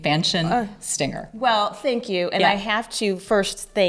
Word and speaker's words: Fanchon: It's French. Fanchon. Fanchon. Is the way you would pronounce it.